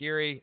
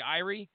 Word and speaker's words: Erie: Yes, Lake Erie. I believe it is pronounced Erie, by the way. I thought it would be Irie. Isn't that like a Jamaican term? But they were referring it to as Erie in the video I watched.